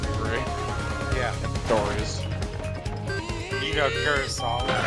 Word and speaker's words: Kurosawa: You know Kurosawa? Pronounce his name again, please. Kurosawa.